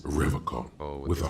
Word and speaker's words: Revachol: He pronounces Revacon Oh, with a the K.